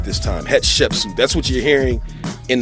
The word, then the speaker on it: Hatshepsut: Hatshepsut.